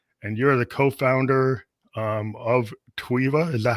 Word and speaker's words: Tweva: talk to you and you're the co-founder of tuiva is that how you pronounce it yes yes the co-founder of tweeva yeah that's awesome so it seems like you're